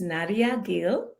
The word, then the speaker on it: Nadia Gil: technology driven market and joining us today is naria Gil she is the senior vice president of strategy at Hitachi digital am I pronouncing that correctly yes okay with a fascinating